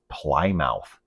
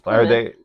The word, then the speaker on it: Plymouth: I mean, Plymouth is like what it looks like. It looks like phonetically. Yeah. But everybody knows it's it's Plymouth.